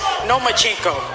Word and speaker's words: Lomachenko: I think you said his name wrong. It's Nomachenko, because he doesn't want to fight me.